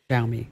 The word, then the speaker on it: Xiaomi: it's a tough one it's x i a o m i and that's just not something we have in English it's a Chinese word so I I'll give you a pass on that sh me I'll remember that